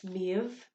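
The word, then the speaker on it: Méabh: for example like um miev in the irish spelling ends in a b h because that is our v sound but you will also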